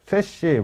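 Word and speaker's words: SASE: 다이렉터 인터넷 액세스라는 방식들을 쓰게 되는데 여기서 세시, 사시라고도 발음하고 세시라고도 하는 그 시큐어 액세스 서비스 엣지라는 그 용어를 같은 어에서 얘기하기 시작했죠.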